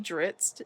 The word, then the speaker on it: Drizzt: it's supposed to be dritz but nobody knows how to pronounce his name because it's supposed to be dritz which rhymes with grits but some some things